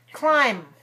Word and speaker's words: climb: on the television right climb now in this word climb what's the last sound is it the m or the b and climb the m right the b is silent so just think of